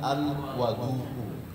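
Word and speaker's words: الوَضوء: Jadi ada perbedaan antara al-wudhu dengan al-wadu'u. Kalau wu berarti wudhu, tapi kalau wa itu berarti medianya yang digunakan untuk berwudhu, berarti air, ya.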